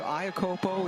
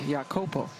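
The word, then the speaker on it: Iacovo: And yes, she has changed the pronunciation of her last name this year. Ayakopo is how we knew her in college, but she plays now for this M national team and has gone back to the more traditional way of pronouncing her last name, which is what like a Y sound. Yakopo. Same person, same name, different pronunciation.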